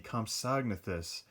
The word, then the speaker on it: Compsognathus: uh and i finally figured out how to pronounce this the compsognathus uh which are the little compies that i